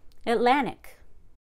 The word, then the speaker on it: Atlantic: Again, stress one syllable to the left of ick or ickle. Atlantic.